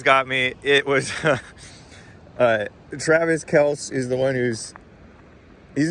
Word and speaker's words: Kelce: I was talking about Jason Kelce. and yes, it's Kelce. It's not Kelsey.